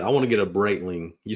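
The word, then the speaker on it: Breitling: want to get I want to get a braitling you said braitling is how you pronounce it braitling yeah I like the bands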